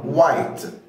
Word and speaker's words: white: ما نطقتش ال H، فاي كلمه تلاقي فيها W بعدها H على طول مش بتنطق ال H، بتبقى silent او مش بتتنطق، فتقول white وايت وده اللون الابيض طبعا.